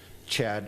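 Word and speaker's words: Chadd: Bruce, Chad, it's spelled C-H-A-D-D, Paishan, P-A-I-S-H-O-N.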